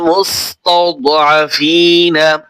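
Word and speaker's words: ٱلْمُسْتَضْعَفِينَ: এখানে একটা ভুল করার জায়গা আছে, অনেকেই ভুল করে এখানে মুস্তাউদ এখানে কলকলা করে। দদ হরফের সাথে যখন জজম হয় অনেকে কলকলা করার চেষ্টা করে, কিন্তু কলকলা এখানে করা যাবে না।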